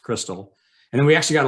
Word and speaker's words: Crystal: Crystal Records USA was actually Christ All is the way we'd say it, Christ All Records, but it's pronounced Crystal.